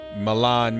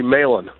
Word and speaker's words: Mahlon: for governor of Wisconsin Malan Mitchell my brother am i pronouncing your first name correctly it's actually laylan Malin I'm sorry how are you